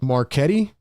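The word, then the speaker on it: Marchetti: maret says yo pronounce my last name with a K it's Italian my bad I didn't know I was saying your name wrong my fault what Nick marquetti is that how it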